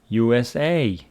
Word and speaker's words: USA: Or if I say, for example, USA, the stress falls on the last letter.